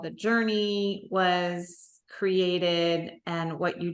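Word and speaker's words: Jorni: more about what the journey j j o r n i but pronounced like Journey right exactly awesome and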